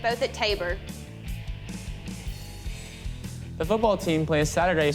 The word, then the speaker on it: Tabor: Hers is pronounced Tabor. Tabor.